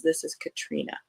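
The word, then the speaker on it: Catriona: series uh by Katrina and yes that is pronounced Katrina I sat next to this author at a mystery book convention and uh I asked her how to pronounce it and she says this is Katrina uh so this first one is after the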